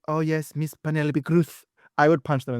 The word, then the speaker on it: Cruz: the United States saying, "Oh yes, Miss Penelope Kruuth," I would punch them in the face. For the record, what is the correct pronunciation of your name? Kruuth. Cru.